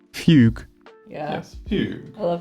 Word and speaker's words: fugue: And that word is fugue.